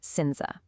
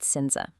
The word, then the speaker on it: cinza: That C at the very beginning, it just acts like an S, pronounced exactly like the English S in sun.